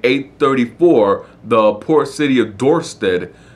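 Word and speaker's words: Dorestad: the port city of door stood or door staad better better pronunciation for it door start was attacked by a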